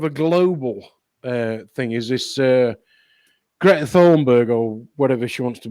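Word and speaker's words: Greta Thunberg: global thing is this grete Thornburg oh whatever she wants to be called it's pronounced great that horn bad okay yeah I know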